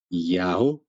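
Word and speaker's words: Iao: a trigramata you'd a while the ancient pronunciation of the name of the god of Israel was Yao can't say that Yao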